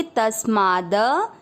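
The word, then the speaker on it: तस्माद्: पहला चरण त के साथ आधा सतस माँ और द पूरा है, द में अमिक्स करेंगे तस्माद ज्ञान, न में अमिक्स करेंगे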